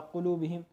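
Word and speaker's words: قلوبهم: जैसे देखो, कौफ पेश कू, लाम वाव पेश लू, कुलू, बा जेर बी कुलू बी, हा मीम जेर हिम कुलू बी हिम।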